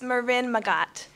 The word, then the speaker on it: Marin Magat: So, Doug, you did a great job pronouncing my name. It's Marin Magat.